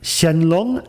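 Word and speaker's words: Shenlong: top of it also he writes Katakana how we should pronounce it and again the pronunciation doesn't match the Japanese pronunciation so we have two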